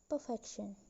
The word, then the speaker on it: perfection: The next example is perfection. The stem is perfect plus suffix ion became perfection. So the stress moved from per to fect. From the first syllable to the second syllable in the stem.